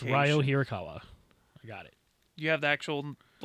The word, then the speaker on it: Ryo Hirakawa: It's Ryo Hirakawa.